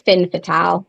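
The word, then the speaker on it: femme fatale: They like to say fin fatale because it has an E at the end. It's not French. It's fin fatale. Fatale. Fatale. I'm like, that's not it.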